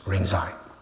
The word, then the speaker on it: Rinzai: Another one is Lingji, which is pronounced in Japanese Rinzai.